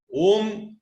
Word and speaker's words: Om: You don't even have to write it as A-U-M. A-U-M and all is only for your understanding. Om is a single syllable. It is Om only.